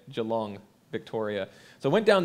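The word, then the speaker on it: Geelong: Melbourne it's near Melbourne Joe long that's how they say it Joe long Victoria so I went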